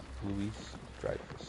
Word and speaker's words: Louis-Dreyfus: Julia, how do you pronounce her full name? Julia Louis-Dreyfus.